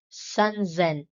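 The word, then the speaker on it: さんぜん: Similar to hundreds, sanzen and hassen have sound changes for easier pronunciation.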